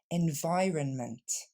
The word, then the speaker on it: environment: environnement tu mets bien environment l'accent tombe sur le son vaureilles l'aide deuxième syllabe et on décompose lentement